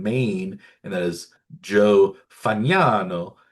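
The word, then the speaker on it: Fagnano: And that is Joe Fano. F A G Nan O pronounced Fano in the Italian way unlike Jack Kaggleon.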